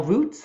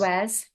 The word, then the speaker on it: Ruiz: Miguel Roots? I always Don want to say Miguel Roots. Ruiz.